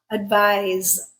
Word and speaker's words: advise: Advice, unvoiced. Advise, voiced.